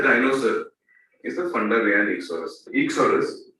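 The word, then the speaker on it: Eeksaurus: It is Ichsaurus.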